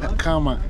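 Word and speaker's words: Aqhama: So she said her name is Akama. Before I reach Johannesburg, I'll be pronouncing it with the like that click sound.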